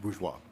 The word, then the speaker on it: Bourgeois: It's French, bourgeois.